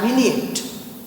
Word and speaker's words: vignette: It is pronounced as vignette.